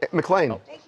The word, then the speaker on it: McLean: Do you know how to pronounce his last name? McLean.